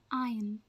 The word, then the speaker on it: iron: the right way right way to say is iron iron iron iron practice it with me iron